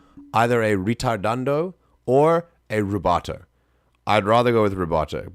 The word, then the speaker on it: rubato: We might be changing the tempo, but this does give me rubato vibes at least. If you want to pronounce it like super correct, rubato, and it is R-U-B-A-T-O.